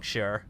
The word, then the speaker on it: Shi: We'll contact Hong Shi. Not she. I believe if I recall correctly, it is pronounced as Shi, because I mean, like, it's.